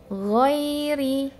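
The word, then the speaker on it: غير: Huruf ghain pada saat harokat fathah, ya, contohnya seperti ini. Ghairi, ghairi, ghairi.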